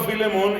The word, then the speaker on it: Filemón: a como algunos no saben pronunciar la palabra filemón entonces vamos a decirle a todos carta de san pablo a la carta de san pablo a filemón es una página tú la puedes buscar la